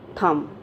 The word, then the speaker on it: thumb: uh and it is is it thumb no it's thumb right so you understand the last alphabet the last letter b is silent here so next time you speak you are going to speak thumb and not thumb okay now the next word